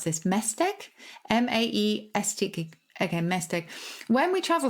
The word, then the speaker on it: Maesteg: He lives in Cardiff, but his partner comes from a small town in the valleys called, how to pronounce this, Mesteg? Maesteg.